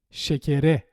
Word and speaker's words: şekere: But when we attach a suffix beginning with a vowel, this A sound becomes the normal E again. Şekere.